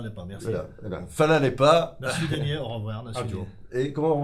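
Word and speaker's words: nasvidenje: Je vais essayer du moins comment ça se prononce. Mais merci, vous dites Fala Lepa. Fala Lepa. Fala Lepa, merci. Voilà. Fala Lepa. Nasvidenie, au revoir.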